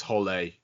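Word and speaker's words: Hole: It's book seven of the Harry Hall series. No, it's not actually pronounced Harry Hall though in the books, is it? Is it not? No. Don't tell me it's Holly. It is actually Holly.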